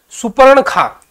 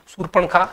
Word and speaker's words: शूर्पणखा: खा ये बन गया सुपर्ण खा ये गलत होया ये सर्पण खा ये बन गया सुपर्ण खा ये हमारा गलत उच्चारण हो जाएगा इसको आपको याद रखिए शूर्पणखा शुद्ध शब्द माना जाएगा सद उपदेश अच्छा शब्द